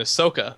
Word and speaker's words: Ahsoka: So Twilight of the Republic is the launch playset, and that includes Anakin and Ahsoka. Ahsoka is how you say it, right? That's correct.